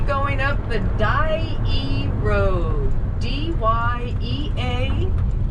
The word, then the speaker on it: Dyea: D-Y-E-A, pronounced Dyea.